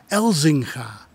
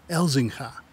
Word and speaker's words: Elzinga: through her veins because elzinga is a Dutch last name we just pronounce it as elzingha elzingha elzinga is a DJ